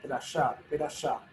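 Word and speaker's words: פרשה: Algunos como dice Luli aquí, algunos pronuncian perashá, una E semimuda al principio.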